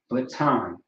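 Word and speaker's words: בטן: The word is baton, right? It sounds if you think about it, you know what I mean? You know, in English, there's actually a word spelled like this, which is baton, right?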